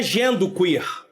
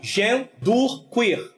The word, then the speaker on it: genderqueer: eu botei uma pronúncia para vocês saberem como pronunciar essa palavra, tá bom? Que é genderqueer, tá? Tá aí, ó, genderqueer.